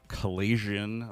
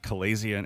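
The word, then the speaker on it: chalazion: There's um there's a thing called a Calasian. Like I've never quite known how to say it. Calazian. It's C H A L A Z I O N, which is slightly different.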